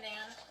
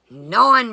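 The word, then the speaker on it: naan: It is non bread. Learn how to pronounce these things if you're going to pretend like you know what they are.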